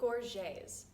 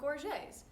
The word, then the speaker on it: gorget: And he informed me that they might actually be not called gorgets and instead pronounced as gorget. But I cannot get over that. I refuse to believe that. So for the rest of this video, I'm going to stick with gorget for my pronunciation, and you guys can